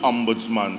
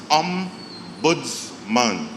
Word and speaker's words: ombudsman: First of all, the word ombudsman. Sometimes you tell somebody and they say the ombuds what, and they pronouncing it funny and all sorts of things. It's ombudsman, all right?